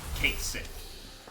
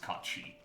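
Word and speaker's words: Cait Sith: Kate Sith is how it's written, but it's pronounced Kachi. It's Gaelic.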